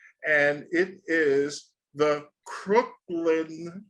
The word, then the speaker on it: Cooklyn: I know when I pronounced it, I said Crooklyn. No, it's not like the movie Crooklyn. It's everybody does it. Yeah, everybody does that. Yeah, it's it's Cooklyn. Cooklyn.